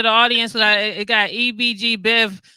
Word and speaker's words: Ebgbev: audience that i got ebg biv that's what i was pronouncing it but i want to make sure it's right yeah right it's ebg so how are you